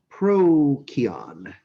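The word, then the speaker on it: Procyon: little hunting dogs that follow him legendary constellations pro-kion in ancient greek and latin seas were pronounced like k's prokion and that's canis miner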